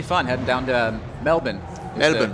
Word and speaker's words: Melbourne: Melbourne. The correct way I've been told how to pronounce it, not Melbourne, Melbourne.